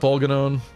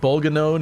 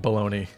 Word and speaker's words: Bolganone: I assume that Bolganone is the correct way to say it. I could absolutely be wrong about that. It's just the way I've always said it. But there's a surprising amount of people that actually pronounce it like baloney.